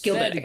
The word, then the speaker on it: Gilbard: It's Gilbert. Gilbert. It is spelled Gilbard. Spelled Gilbad. Okay. That's the French pronunciation.